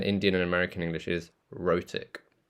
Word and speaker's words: rhotic: So we can use the phrase, British English is non-rhotic, and Indian and American English is rhotic. Sounds like roti. Rhotic.